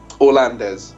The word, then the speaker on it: Orlandes: Is it, by the way, is it Orland or Orlandes? Orlandes. Or it is Orlandes. Orlandes, yeah. Okay. That's how we pronounce it.